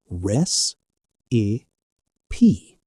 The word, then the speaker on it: recipe: Here, you pronounce all three parts of the word. It is like a musical chord with three notes. res- i- pe For example, my grandmother gave me her secret cake recipe.